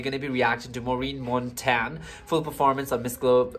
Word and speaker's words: Maureen Montagne: in this video we're going to be reacting to Miss Globe 2021, and in which our Maureen Montagne, that's how we pronounce, from Philippines have won.